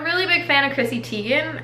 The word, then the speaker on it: Teigen: big fan of Chrissy Teigen or Tigan I guess is now how it's pronounced but I'm still gonna say Teigen I'm sorry if she